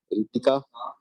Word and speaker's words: रितिका: Ananya, रितिका, copy कलम लेके बैठती हो? अच्छा, रितिका में एच क्यों लिखते हैं आगे? सर एच साइलेंट रहता है।